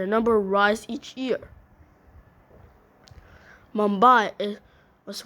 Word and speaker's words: Mumbai: year mumai is was once known as Bombay due to the British inability to pronounce mambai but in but but in 1995 the name was changed to return to the original pronounciation mumai has been called